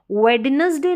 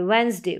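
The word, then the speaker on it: Wednesday: silent है जैसे कि उसको वेडनेसडे नहीं बोलेंगे वेनसडे वेनसडे डी साइलेंट है इसको हैंडसम नहीं बोलेंगे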